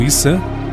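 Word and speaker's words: Isa: na visão do islamismo jesus ou issam como é pronunciado no islã seria apenas mais um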